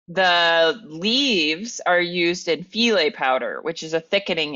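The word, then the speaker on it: filé: Like you need that filet powder because there's just no other way to like get it. And by the way, filet is spelled like file.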